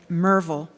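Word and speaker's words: Maryville: Wood never painted a portrait of his father, Francis Wood, who went by his middle name, pronouncing it Merville.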